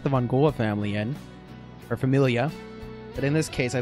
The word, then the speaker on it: famiglia: Familia is how it's pronounced.